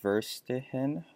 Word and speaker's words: Verstehen: The second term from chapter 1 that I'm going to include in my paper is, I think it's pronounced Verstehen, which is German for understanding.